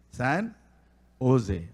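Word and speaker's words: San José: அந்த பாஷையில் ஜே சான் சான் ஓசேன்னு தானே சொல்கிறோம். சான் ஜோசேன்னு சொல்கிறோமா? இந்தியாவில் அப்படி தான் சொல்லுவாங்க. ஆனால் இங்கிலீஷில் நம்ம கரெக்ட் ப்ரொனன்சியேஷன் எப்படி? சான் ஓசே. அது மாதிரி ஏசூஸ் அப்படின்னு சொல்லுவாங்க.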